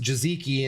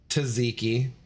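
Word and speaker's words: tzatziki: one letter, which is why I know it's pronounced Jaziki and not Taziki for the dipping sauce.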